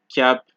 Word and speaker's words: cap: you see in French, you generally don't pronounce D's, P's, S's, T's, or X's. However, there are a few exceptions, just a few, such as sud, cap, slip, fils, bus, brut, ouest, huit.